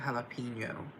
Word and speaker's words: jalapeño: Se pronuncia jalapeno, se escribe con la ñ.